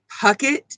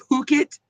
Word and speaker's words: Puckett: butchered my last name it's puckett but they caught they said phuket um then there's